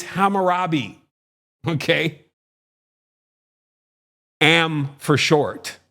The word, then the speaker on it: Hammurabi: It's Hammurabi. Okay, am for short. The H is silent. Amarabi.